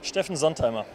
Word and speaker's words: Steffen Sontheimer: I'm here with Steffen Sontheimer, correct? What's the correct German pronunciation? Steffen Sontheimer.